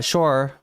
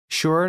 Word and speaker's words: Shure: uh, Michael Shure uh, Shore. I don't know if I'm saying it right now. It's Shure. Sure. Not Shore.